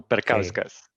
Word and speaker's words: Perkauskas: talking with Audrius, is my pronunciation of your Perkushkas correct? It goes in the right direction. In Lithuanian language, you typically pronounce au always, letters which go together, like au gives au. So Perkauskas. Perkauskas.